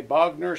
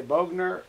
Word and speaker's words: Bogner: it is bogner bugner some say bogner some say bogener i really don't care